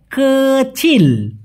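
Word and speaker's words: kecil: তার বিপরীত ছোট ছোটকে মালয়েশিয়ান ভাষায় বলা হয় কচিল কি বলা হয় অনেকে বলে কিলা কিি কিি না সঠিক উচ্চারণ হবে আমি ছোট ছোট মাছ খেতে পছন্দ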